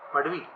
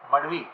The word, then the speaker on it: Madhvi: मडवी M-A-D-H A-V-I. माधवी हाँ, but it looks like Madhvi, but it is Madhvi. मडवी okay H silent है Yeah.